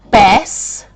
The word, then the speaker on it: Bastion: But it's pronounced Bastion. Bastion. Not Bastion, which I can't even say it, but Bastion.